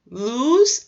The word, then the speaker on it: lose: Lose and loose. Loose and lose. I know that doesn't sound very different, but there is a small pronunciation difference there.